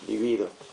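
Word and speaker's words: libido: Livido. Sí. Es una palabra grave. está acentuado en la segunda sílaba.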